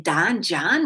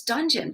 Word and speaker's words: donjon: reading Donjon and saying, Don, John, what kind of name is that? And they're like, pronunciation, look at the pronunciation. And it was dungeon, but not spelled that way.